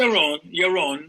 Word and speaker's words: Yaron: Is it Yaron or Yaron, or how do you pronounce it? Yaron, yes.